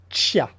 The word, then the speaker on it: chia: les graines de chia on ne sait jamais comment prononcer est-ce que c'est shia est ce que c'est qu'il y a certains disent yad'autres qui a en fait le vrai la vraie prononciation c'est shia il faut mettre un comme s'il y avait un thé devant les graines de chia vous